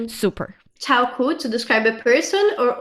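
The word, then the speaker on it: 超酷: 超酷 chāokù, super cool. Super cool. Interesting. Yes. Actually, we know that 超酷, you can understand it as a word. It's a two-syllable word.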